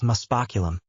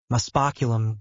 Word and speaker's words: muspoculum: Now the spell is muspoculum, so I need you all to pronounce it with me. Muspoculum, good again, muspoculum, excellent.